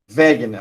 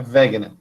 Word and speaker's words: Wegener: Wegener, a pronúncia correta dele é alemão, é Wegener. Alfred Wegener. O W aí com som de I. Em alemão, o W tem som de V.